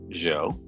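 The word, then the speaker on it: Zhou: was a really long time ago and the joe dynasty of china arguably the first real imperial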